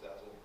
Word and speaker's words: DASL: And DASL is sort of an acronym that we pronounce Dazzle.